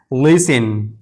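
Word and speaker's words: listen: अगर किसी लफ्ज के आखिर में टी के बाद इ एन हो टी के बाद एक साथ इ एन आए तो टी हमेशा साइलेंट रहता है। जैसे लिसिन लिसिन देखिए यहां टी के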